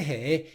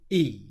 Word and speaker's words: he: So what I'd like to hear is when he's saying he, I'd just like to hear that H sound being pronounced he instead of E.